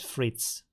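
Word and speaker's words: frites: do you pronounce that Fritz three tests wait French for French fries is what fritters frit so the S is not pronounced and when you have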